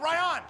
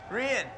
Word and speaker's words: Rian: ♪ YO, RY-ON. IS THAT HOW YOU SAY IT? RY-ON? RIAN. RIAN, ALL RIGHT.